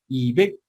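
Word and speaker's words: 이백: भनेको फेक हुन्छ है यो 200 लाई चाहिँ इबेक अथवा इफेक्ट है यो इफेक्ट नगर्नुस् इबेक गर्नुपर्छ यो पछाडी आएको हामी चाहिँ इबेक बलाई ब नै उच्चारण गर्नुपर्छ ओके ल अब 200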